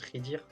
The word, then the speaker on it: Khidir: Bah, c'est comme ça que ça s'écrit, mais ça se prononce Khidir.